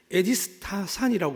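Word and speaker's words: ἐδίστασαν: 의심이라는 헬라어는 이렇게 발음합니다. 에디스타산이라고 그러는데 이 의미는 뭐냐 하면 의심하다, 망설이다, 두려워하다.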